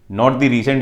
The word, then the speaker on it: Rus: है और ये लोग अपने आप को बोलते थे रूस स्पेलिंग आर यूएस होती थी लेकिन प्रोनंसिएशन इनका रूस होता था क्लियर है तो कीवन